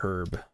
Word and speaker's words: herb: found out much later it was pronounced herb because the H is silent I guess but then